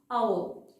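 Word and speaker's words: hour: Next, our, ah.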